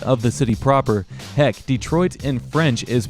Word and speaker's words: Detroit: Now we're in Highland Park, a city that's completely surrounded by Detroit city limits.